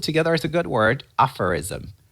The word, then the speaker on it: aphorism: it's kind of like a proverb so let's pronounce it together as a good word aphorism aphorism put the strust on the first part let's